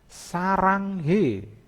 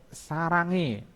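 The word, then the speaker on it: 사랑해: Saranghe, saranghe bacanya yang benar sarangi, itu jadi hanya juga hilang.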